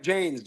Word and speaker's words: Jaynes: Jaynes.